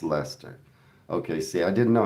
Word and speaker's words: Leicester: Okay, it's Leicester. Okay, see I didn't know how to pronounce it.